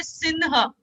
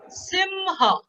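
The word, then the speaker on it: सिंह: Not, and Hindi speaking will say sinha. No, it is ma. Simha.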